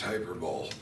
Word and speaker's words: hyperbole: I believe that's pronounced hyperbole.